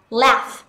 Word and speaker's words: laugh: trong tiếng Anh Mỹ người ta có xu hướng chuyển âm này sang thành âm AB và do đó chúng ta sẽ đọc từ này là laugh laugh gh ở đây chúng ta sẽ được phiên âm thành f la la âm a